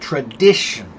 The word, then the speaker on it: tradition: So in this case, the stress comes right before the ick, the shun, S-I-O-N or T-I-O-N, right? Tradition. So right before the shun, tradition.